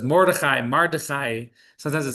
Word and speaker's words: Mordechai: Now, Mordechai, when we pronounce it, we say it with kind of a lot of stuff. A lot of words that you hear, we kind of slur. So this is Mordechai.